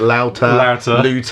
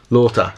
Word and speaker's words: Loota: really practice that because I keep calling it louder yeah looter yeah yeah it's spelled looter yeah if it was